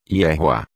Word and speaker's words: Yehoá: Teremos então a pronúncia completa como Yehoá. A pronúncia Yahweh acontece quando o nome do Criador é inserido após alguma outra palavra, como por exemplo, após a palavra El.